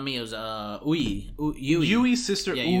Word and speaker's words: Yui: No, not Mio's, Yui. Yui's sister, yeah, Ui. Yeah. Yui and Ui. Yui. Yui and Ui. Yui, for context, is spelled Y-U-I. Ui is spelled U-I.